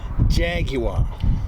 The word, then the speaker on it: Jaguar: No, you said Jaguar. It's Jaguar. Jaguar. No, 3 syllables. Jaguar.